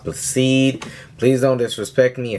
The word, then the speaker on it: Blessed: Yes, it is spelled blessed, but it's pronounced Blacede.